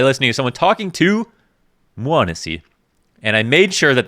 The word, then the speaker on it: m0NESY: verified it by listening to someone talking to muanasi and i made sure that that's how you say it it's not manessi it's not meow missy it's not medici and i might mess it